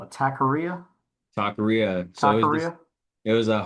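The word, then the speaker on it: taquería: So, working at this Takaria, Takaria is how you pronounce it.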